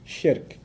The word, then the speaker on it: shirk: S-H-I-R-K. Sounds like Shrek, so that's easy to remember, right?